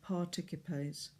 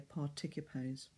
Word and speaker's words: participes: nos, but nos, and then participes, because there's always a pull to pronounce a C followed by an I or an E as soft and say participes, like participant in English, but we need to hear participes.